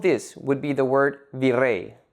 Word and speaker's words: virrey: An example of this would be the word virrey, made up of two syllables, vi and rey. The last syllable, rey, is the stressed syllable.